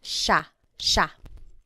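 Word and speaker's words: siya: point out the pronunciation it looks like it should be pronounced but it's usually pronounced Sha Sha Sila is theyo is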